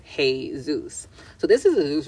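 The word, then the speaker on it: Jesús: and right okay so when you say Jesus in Spanish it's pronounced hey Zeus so this is a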